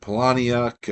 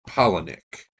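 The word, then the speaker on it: Palahniuk: and and I've said Palaniac. I've said P I think I I would have said Pollen without looking. I think it's actually Pollenic. Said it rhymes with Colony.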